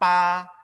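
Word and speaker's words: 八: Lalu angka 8, pa. Nah, ini huruf B, tapi kita bacanya pakai P kalau ada huruf B ya, untuk pinginnya.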